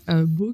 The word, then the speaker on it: Baux: Beau, qui s'écrit donc B-A-U-X, parce que c'est la